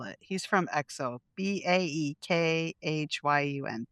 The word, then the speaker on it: Baekhyun: I'm going to spell it. He's from EXO. B A E K H Y U N. B Baek Baekhyun?